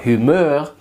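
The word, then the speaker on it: humeur: a little bit humor humor doesn't mean humor who more like the same spelling as an English humor humor that's humor but humor with the emphasis on the last syllable is mood so you say this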